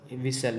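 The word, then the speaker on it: whistle: तो इसमें आपका जो है एच साइलेंट है और टी साइलेंट है, यही आपका ऑप्शन बी सही हो जाएगा। क्यों? क्योंकि विसल नहीं पढ़ता, विसल एच साइलेंट रहता है, डब्ल्यू एस से कोई भी शब्द शुरू होता है तो उसमें विसल एच साइलेंट रहता है अक्सर।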